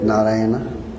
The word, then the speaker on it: Narayana: Do you know any similar word pronounced in a similar way like Narayana? Ramayana.